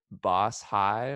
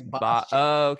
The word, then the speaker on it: Bashi: there's no spaces, but is it Boss High or Boshi? Yeah, it's Bashi.